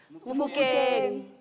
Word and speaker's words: Mofokeng: Mofokeng. Our surname. Say it again. Mofokeng. Mofokeng. Yes. I pronounced that right.